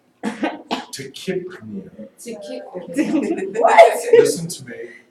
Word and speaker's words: tachypnea: I guarantee you, you're gonna run into people who say tachypnea or Tachypnea. hyperpnea. She said tachypnea. said Tachypnea. It's tachypnea. Wait, say it again.